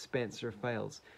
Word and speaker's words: Spencer Files: I pronounced his name wrong. It's pronounced Spencer Files.